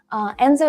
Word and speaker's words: enso: like to share this concept concept of the Enzo Circle Enzo is spelled enso and the idea it originates in